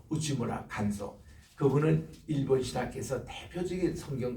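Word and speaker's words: 内村鑑三: 또 그거를 이어서 일본에서 우스무라 간소라는 분, 이분은 내촌 감산이라는 분인데 일본 발음으로 우치무라 간소.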